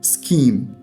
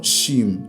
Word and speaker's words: scheme: so let's go to scheme okay scheme B which is a scheme so chef and scheme it's not shim it's schem all right so scheme